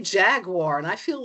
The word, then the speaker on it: Jaguar: I feel weird saying Jaguar. I don't care that the British company says that's technically how it's pronounced. I say Jaguar, and I feel like